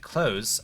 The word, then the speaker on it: clothes: supposed to pronounce it close oh dang it one of the rubber bands on my uh shock mount broke again dang it you're supposed to pronounce it close without the th at all maybe even a soft